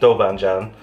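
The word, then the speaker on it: Doubanjiang: It's spelt Doubanjian on the bottom, but it's actually pronounced Doubanjian.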